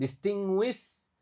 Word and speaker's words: distinguish: Distinguish gas. Nah, ini U-nya enggak dibaca.